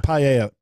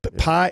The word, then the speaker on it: paella: Paella. Pie. It's called paella. Paella. Okay. That's how it's pronounced.